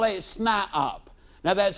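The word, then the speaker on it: SNIOP: toe and he becomes what I call it snop now that's spelled s ni i o p and that's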